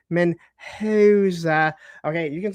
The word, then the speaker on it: Mendoza: It is Mendoza.